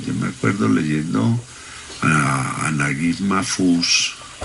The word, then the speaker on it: Naguib Mahfouz: Es que yo me acuerdo leyendo a Naguib Mahfouz, que se pronuncia Najib Mahfouz, leyendo a este hombre cómo piensa un árabe.